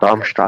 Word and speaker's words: Darmstadt: I probably butchered that. Darmstadt. Is it Darmstadt? Darmstadt.